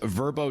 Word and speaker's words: VRBO: much for your time the website is verbo comm VRBO dot-com or you can just